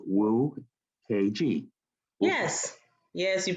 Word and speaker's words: Nwokeji: So first name, and then the last name is spelled Nwokeji, and it's spelled Wu KG.